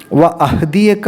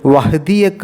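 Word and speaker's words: وأهديك: ഫുൽ ഹല്ല എന്ന് വ്യക്തമാവണംൊമപതാമത്തെ ആയത്തിൽ വഅഹദിയക്ക എന്നുള്ള സ്ഥലത്ത് വഹദിയക്ക എന്ന് മാത്രമായി അവിടുത്തെ ഹംസ നഷ്ടപ്പെടാനുള്ള സാധ്യതയുണ്ട് ശ്രദ്ധിക്കുക അഹദിയക്ക എന്നാണ് വഹദിയക്ക എന്നല്ല ഇരുപതാമത്തെ ആയത്തിൽ ഫറാഹുൽ ആയത്ത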